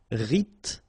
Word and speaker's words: rythmique: Rythmique, remember, Y pronounced like E and then H doesn't exist. Rythmique, rythmique.